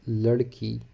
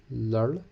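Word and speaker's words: لڑکی: Then girl is ladki. L-A capital R, ladki.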